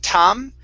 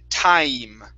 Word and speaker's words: time: Let's try the long I sound with the word time. So instead of tam, it's tai, time.